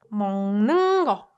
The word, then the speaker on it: 먹는 거: But this one, can you try pronouncing this one? There are also two consonant assimilation happening. 먹는 거, 먹는 거, 먹는 거, 먹는 거, 먹는 거, 먹는 거, right?